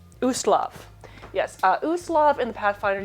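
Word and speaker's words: Ustalav: in the country of Uskat. I'm not really sure if I'm pronouncing that correctly. It is Uslav.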